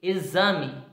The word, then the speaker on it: exame: Exame, executar, exemplo, êxito, exibição, exagero. Perceberam que o X pronunciado, ele dá para você entender que tem o som de Z.